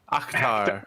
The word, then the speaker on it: Akhtar: Except it's spelled with an A. Oktar. I thought it was AT. Oktar. A-K-H. Like an actor? Actar? Akhtar. Oktar.